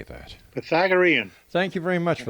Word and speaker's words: Pythagorean: He designed the Pagatharan Tarot and wrote the comprehensive guide to how do you say that? Pythagorean.